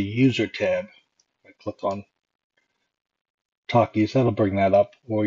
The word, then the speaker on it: Takis: So I'm going to type T-A-K-I-S. And then the pronunciation that we want to use.